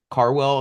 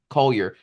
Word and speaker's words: Collier: I think Isaiah Carwell, as I pronounce his name, should be Collier, might be the number 1 pick.